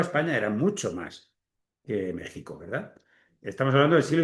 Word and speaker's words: México: España y México o México, vamos a decirlo bien, ¿verdad? Está escrito con la X, pero se pronuncia con la con la J, pero no en todas las palabras, ¿verdad?